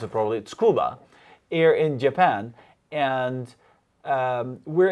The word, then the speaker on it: Tsukuba: Yeah, Tsukuba. Tsukuba. I'd like to pronounce it properly. Tsukuba, here in Japan.